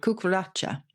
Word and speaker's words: cucaracha: And it's the same for the cockroach, because it comes from the Spanish cucaracha. My Spanish is not very good. Cucaracha. So Cucaracha. But because we couldn't pronounce that, and I've just given you ample illustration of that, we changed the spelling because it sounded a bit like cock and then roach. Even though roach is a freshwater fish and it